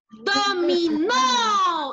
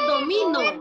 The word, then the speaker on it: Dominó: Lleva tilde en la última O. Porque si no llevara tilde, diría domino.